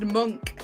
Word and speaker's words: Munch: do you think edward munch painted the scream are you laughing at me again because like edward i just love it tim says true i've heard it pronounced monk too by allison what's